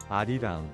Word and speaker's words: Arirang: We're going to start with the pronunciation of this album, and I believe it's Arirang. But we're going to listen. Arirang Hey, I got close.